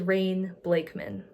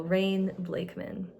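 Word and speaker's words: Rayne Blakeman: going to be under my name which is rain blakeman and uh if you need to know how to spell that it's r a y n e blakan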